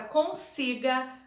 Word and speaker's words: consiga: A palavra consiga, a sílaba tônica é si.